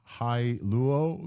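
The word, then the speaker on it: Hailuo: We're going to mention High Luo. This is how to say this, High Luo 2.3, which is like a updated realism.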